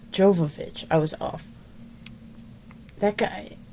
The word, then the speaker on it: Jovovich: me how do you say her last name jovovich jovovich i was off that guy oh no he